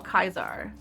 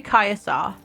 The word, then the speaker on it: Caesar: It's like, is it Caesar or Kaiser? No, it's actually Caesar, is what they call him in this game. So they actually do have sort of the correct pronunciation of Caesar. And yes, it is Caesar.